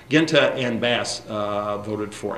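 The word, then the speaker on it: Guinta: I my name is I'm Italian American so I pronounce it the old style Genta and bass uh voted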